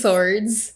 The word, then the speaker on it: swords: i think that was swords yes so but there's just no r yes no r so it should it should have been swords instead of a w sound yes yes swords swords